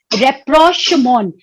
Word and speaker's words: rapprochement: We pronounce it like rapprochement, and this rapprochement is a very important concept in international relations.